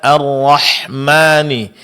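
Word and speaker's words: الرحمن: Tinggal sedikit tadi pada basmalah pada arrahmani. Di sini huruf ha-nya makhrajnya masih kurang ee jelas. Begitu juga sifat Hammas di dalamnya masih kurang Ibu ya. Jadi arrahman.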